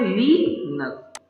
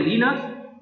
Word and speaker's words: Linux: लिनक्स, pronounce करते हैं लिनक्स और लिनक्स।